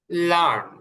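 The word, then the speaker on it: learn: লার্ন শেখা, এখানকার আরটা একটু মোটা করে উচ্চারণ করবো।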